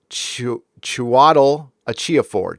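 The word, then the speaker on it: Chiwetel Ejiofor: 12 Years a Slave and Serenity villain pronounced Chiatel Achiofor. Chiwetel Achiofor.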